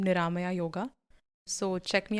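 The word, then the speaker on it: Niramaya: go by the name Naya yoga so so check me out on Instagram spell it yes it's n i r a m a y aore yoga Naya yoga Naya means disease free oh oh interesting okay guys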